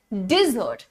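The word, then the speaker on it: dessert: रहा है ना मित्रों सो यहां पर आपने कहना है डिजर्ट there is a thing called डेजर्ट डेजर्ट जो होता है उसमें तो स्पेलिंग का भी फर्क है वहां पर सिंगल एस होता है वो सिंगल एस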